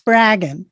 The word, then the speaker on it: Spraggon: just get it right it's bragging rhymes with dragon easy to remember it's what i would